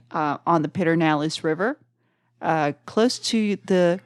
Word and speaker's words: Pedernales: right uh on the pitter nalis River uh close to the Confluence I think I think a lot of people in the area says peralis okay P petalis I